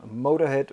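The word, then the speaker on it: Motörhead: übernommen in ihr Logo und nennen sich seitdem Motorhead mit zwei Punkten auf dem O, aber es wird natürlich nicht ausgesprochen.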